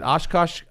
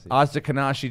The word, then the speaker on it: Ashkenazi: Is it Oshkosh? How do you say that Jewish? Ashkenazi Jewish at 23andMe.